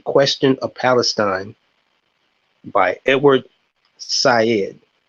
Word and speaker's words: Said: of Palestine by Edward Said. That is Said. It sounds like his name is Edward Said, but it's pronounced Said.